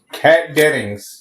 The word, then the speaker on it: Kat Dennings: Kat Dennings.